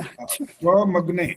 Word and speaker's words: त्वमग्ने: त्वमग्ने, म का उच्चारण बिल्कुल पूरा स्पष्ट होना चाहिए।